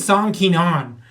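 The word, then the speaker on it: Song Kenan: Apparently, Keenan Song's name is Song Keenan, is the way it's pronounced, but they got it wrong on the passport.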